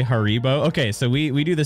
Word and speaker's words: Haribo: Haribo?